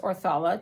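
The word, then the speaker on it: Othala: Here you have the rune of Othila, or pronounced Orthala, depending on where you're from.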